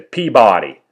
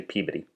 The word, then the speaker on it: Peabody: I grew up in most people are going to say Peabody it's actually Peabody so there it is